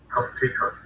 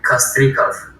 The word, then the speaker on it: Kostrikov: Kostrikov. Kostrikov. Okay. Yeah, it's Russian. Did you just guess, or is that actually how it is being pronounced? Yes, it's actually Kostrikov in Russian.